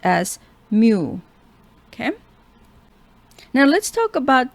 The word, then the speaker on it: mu: sure that you learn this and it is pronounced as mu okay now let's talk about this less than